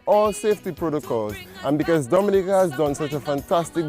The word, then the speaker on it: Dominica: Oh, we call it Dominican. It is spelled D-O-M-I-N-I-C-A.